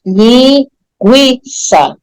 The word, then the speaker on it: linguiça: linguiça quero comer linguiça o u é pronunciado nessa sílaba né linguiça você percebe bem o